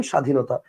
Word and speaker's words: স্বাধীনতা: কি বলেন উচ্চারণটা ক্ষীণ যেমন আপনি দেখেন একটু খেয়াল করে দেখেন স্বাধীনতা আপনি খেয়াল করেন বফলা আছে কিন্তু বফার উচ্চারণটা আপনি করতেছেন না আচ্ছা আপনি কি বলেন স্বাধীনতা বলেন আপনি বলেন স্বাধীনতা আবার দেখেন শশুর এইযে শশুর বানানের নিচে বফলা আছে আপনি কি বলেন সশুর বলেন আপনি বলেন শশুর আবার দেখেন স্বামী স্বামী